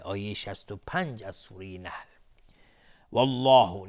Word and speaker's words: الله: والله، لفظ جلاله استعلاست، غلیظ تلفظ میشه.